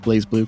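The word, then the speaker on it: BlazBlue: fighting game franchises such as guilty gear and blaze blue it is pronounced blaze blue correct yes it is is pronounced blaze blue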